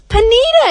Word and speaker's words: Panita: Who's Patania? Is Patania here? Patania Badge. And I'm like, what? It's Panita.